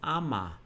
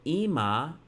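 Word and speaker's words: אמא: You might think it's Ama because you would think Aleph is an A. But it can carry the I vowel, the hirik, the dot underneath. So we see that Ima is mother.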